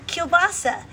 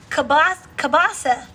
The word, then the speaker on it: kielbasa: uh polish sausage right and so kirsten said it right kielbasa but my friend patty she said it kabasa k bossa she said k boss and then i say it kabasi so we all just